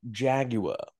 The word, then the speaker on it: Jaguar: English you've got to do it as a Jaguar Jaguar Jaguar you've got to as Posh as